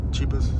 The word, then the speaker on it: Qibus: Qibus. No one can pronounce it.